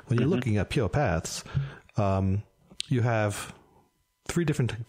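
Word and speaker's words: PurePaths: at pure paths or I put the accent on the wrong pure paths that's the Christopher Walkin way saying it when you're looking at po paaths um you have three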